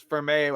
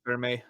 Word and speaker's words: Fermi: it's there's thousands of f-e-r-m-i i pronounced it for me oh for me okay because i was thinking of okay because fermay i think was one of the guys who worked on the first nuclear reactor thing i i don't